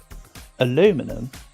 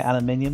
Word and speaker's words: aluminum: story short is that actually aluminum is the correct pronunciation um it's one of the few times where it's a case of the American pronunciation right but I believe that's the case because it's an American it's an American discovered material and why over here we say aluminium I don't know let's